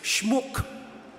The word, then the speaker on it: Schmuck: But in German, that word, which, by the way, I'm going to pronounce it the German way, okay? It's schmuck.